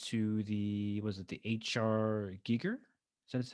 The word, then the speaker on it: Giger: And I've noticed on one of your latest episodes, you went to was it the HR Geeker? Is that how, am I pronouncing his name right? Yeah, Giger, yeah.